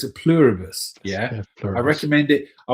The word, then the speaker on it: Pluribus: It's a Pluribus.